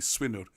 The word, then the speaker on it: Swynwr: Actually, if I say it properly, Swinwr.